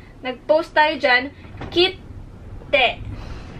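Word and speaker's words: きって: So, indication siya na magpo-post kayo doon bago nyo bigkasin yung huling phonetics.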